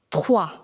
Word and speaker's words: trois: The pronunciation of combination OI in French is OA. So, MOI becomes moi. TOI becomes toi. TROI becomes trois.